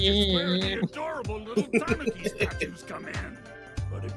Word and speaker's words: tanuki: And of course, we can't forget about the old Japanese spirit, which is where the adorable little tanuki statues come in. But it wasn't easy. Apparently it's pronounced Tanuki.